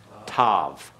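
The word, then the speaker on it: תו: Tau, which is alternatively pronounced Tav. All right, T-A-V is the alternate pronunciation.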